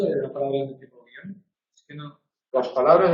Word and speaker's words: guion: vale palabras del tipo guion palabras del tipo guion se pueden pronunciar en dos sílabas y si se pronuncian en dos sílabas entonces acaban en N y son agudas y habría que ponerle